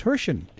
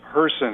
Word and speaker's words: Hirsen: the best-selling author James hen James welcome to taking care of business oh it's great by the way my name is hon it rhymes with person you know I always